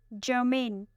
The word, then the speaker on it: germane: Our second word is germane. Germane. It has 2 syllables and the stress is on the second syllable.